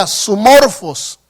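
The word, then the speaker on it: σύμμορφος: pablo es hermano una palabra que se pronuncia asu morphos vera que viene siendo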